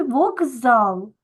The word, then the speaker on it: вокзал: записуємо так як вимовляємо в слові вокзал ми букву К вимовляємо дзвінко як Ґ вокзал Так чому Тому